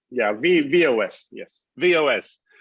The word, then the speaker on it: V-OS: Well, as I understand it, is VOS, is that the right way to pronounce it? VOS? Yeah, VOS.